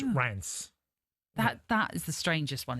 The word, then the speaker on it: Reims: And people think it's Reims, but it's not. It's Rance.